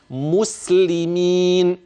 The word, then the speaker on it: مسلمين: فانتبه باياتنا وكانوا مسلمين اذا ما دمنا قد وقفنا عند اللام وبينا الحركه وال وبينا حركتها اذا فهي عرضه عند البعض ان يقراها بغير هذا الضبط ما هو لا ننطق الخطا بل ننطق الصواب لينتشر ونسكت عن الخطا فينثر اذا النطق الصحيح مسلمين الذين امنوا باياتنا وكانوا